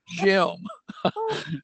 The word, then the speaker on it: Jim: There's only one syllable. It's Jim.